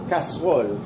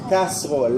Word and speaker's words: casserole: Casserole. Casserole. La E no se pronuncia, se traga la E. Dices casserole.